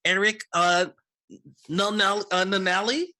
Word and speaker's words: Eric Nanali: On Tuesday at 4 p.m., check out Out of Character with Mark Tassin with our guest, Eric Nanali, I believe is the correct pronunciation. Yes.